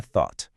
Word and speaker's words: thought: São aqueles verbos que no passado ganham a terminação s ou s, onde o gh fica totalmente mudo.